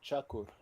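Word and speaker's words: Çakır: Uh that is C with a thing under that cha cha sound. So uh chakur chak is a u u is often pronounced uh ochar.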